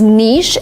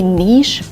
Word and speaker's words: niche: We have 2 pronunciations and they are the same. Some people say niche and some people say niche. Niche is closer to the original pronunciation that is French.